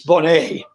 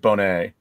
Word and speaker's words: Bonnet: it's just stupid name but it's french and so it's bonnie really yeah there there was a gentleman that actually did a video and he was pronouncing it bonnet yeah but i don't